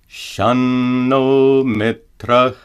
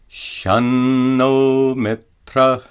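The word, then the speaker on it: शं नो मित्रः: If a final anuswara is followed by a dental letter, ta, ta, da, da, or na, it must be pronounced as a dental na. For example, Shanno mitra.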